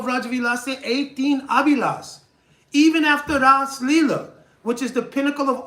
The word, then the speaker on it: Ras Leela: All rasas are present in the Ras Leela. If you see Rasa Leela, if you see it written in Devanagari, the word Rasa has a short A. Ras Leela, there's a long A because it means Ashvadan.